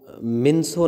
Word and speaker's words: Minco: मार्गो मिन्सो ने लिखा है, मिंको ने लिखा है, दोनों इसके प्रोनाउंसिएशन है।